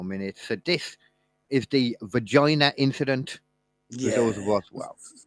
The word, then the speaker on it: Varginha: Not forgetting it, but forgetting how to pronounce it properly without it sounding like vagina. Varginha. Virginia. Varginha.